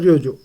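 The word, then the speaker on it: Troyjo: ठीक, प्रेसिडेंट अभी है आपके मार्कस प्राडो और रियोजो। ठीक, ये आपका टी साइलेंट हो तो ये रोयजो।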